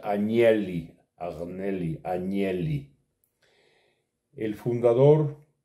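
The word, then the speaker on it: Agnelli: ejemplo italiano de la familia arneli se pronuncia anieli adonelli angeli el fundador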